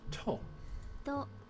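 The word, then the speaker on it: と: You pronounce this as to.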